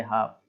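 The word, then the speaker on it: half: Next है हाफ, एफ के पहले मैंने बोला है 4 वर्ड हैं, डी एफ एम और के, इनके पहले एल आता है तो एल साइलेंट हो जाता है, तो पढ़ेंगे हाफ, है ना, एल एफ के पहले आ रहा है हाफ।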